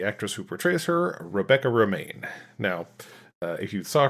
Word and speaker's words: Romijn: O M I J N, but it is pronounced Roma. She has uh stated that it's pronounced Roma like the lettuce.